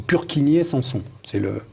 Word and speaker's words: Purkinje: appelle le phénomène de Purkinje-Sanson, ou Purkinje-Sanson. Puisque Purkinje était, si ma mémoire est bonne, un savant d'origine bohémienne, il faut prononcer son nom comme ça.